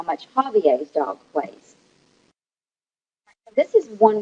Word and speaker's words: Javier: here all right so um the way you pronounce this is Javier but it wouldn't matter what you said how